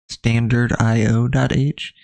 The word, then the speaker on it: stdio.h: And again, stdio.h, or you'll sometimes hear it pronounced standardio.h, is part of the standard C library that comes with C when we installed it.